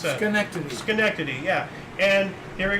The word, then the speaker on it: Schenectady: How do you pronounce that? Schenectady.